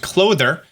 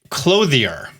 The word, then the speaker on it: Clothier: I've now also learned that it's not pronounced clother. It is a clothier.